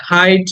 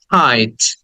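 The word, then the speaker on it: height: Hand, এটাকে আমরা অনেকে হাইট বলি, হেইট বলি, বাট শব্দের উচ্চারণ হচ্ছে হাইট, হাইট।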